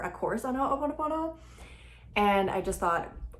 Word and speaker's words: Ho'oponopono: mentioned it, and it's not that hard to pronounce, so let's just get it right. It's hooponopono.